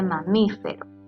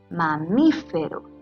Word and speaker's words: mamífero: tenemos el caso de mamífero mamífero lleva a su sílaba tónica en última penúltima y antepenúltima sílaba y para finalizar tengo estos